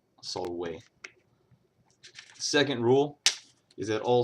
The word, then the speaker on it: salve: first rule is that all V's make a w sound for example the uh the Latin word for hello is a Solway which despite how they pronounce it in Rome too much to my chagrin is Solway not Salve Solway second rule is that